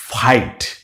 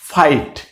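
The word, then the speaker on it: fight: এরপরে এই শব্দটা কি দেখেন, আপনি নিজেই পারতেছেন, ফ, এফ এর উচ্চারণ কি ফ, তার সাথে আছে কি আইট, কি হয়ে গেল ফাইট, ফাইট।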